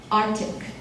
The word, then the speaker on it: Arctic: Arctic Arctic no C the C is not pronounced Arctic it's very easy Arctic